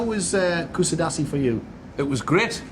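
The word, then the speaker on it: Kuşadası: Is it Kusidasi. Kusidasi, yes.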